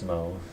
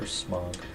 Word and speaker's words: Smough: irks me that his name is pronounced Smough. I prefer Smough. Or Smough.